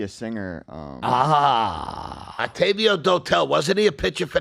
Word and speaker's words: Dotel: How do you say the last name? Dodel.